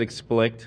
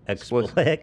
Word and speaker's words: explicit: we're talking about did you say I said explict instead of explicit yeah I'm not the only idiot here now